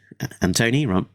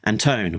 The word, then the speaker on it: Anton: Anton rhymes with phony. No, Anton rhymes with phone.